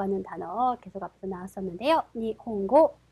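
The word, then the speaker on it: 日本語: 니혼고. 자, 그러면 악센트는 니혼고, 니혼고가 됩니다.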